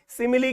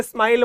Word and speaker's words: simile: सिमिली क्या है? इसे स्माइल मत बोलिएगा फ्रेंड्स, स्माइल मत बोलिएगा, स्पेलिंग अलग है और इसका प्रोनाउंसिएशन और मीनिंग भी अलग है।